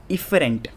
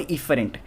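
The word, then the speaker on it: efferent: And motor को हम क्या बोल सकते हैं, इफरेंट, ठीक है, एफरेंट और इफरेंट।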